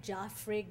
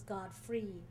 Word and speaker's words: Godfrey: people called him Godfrey Joffrey God Fred but he always insisted it was god-free at school they said